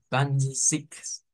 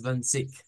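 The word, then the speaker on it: zwanzig: Porque esa Z se pronuncia con una TS.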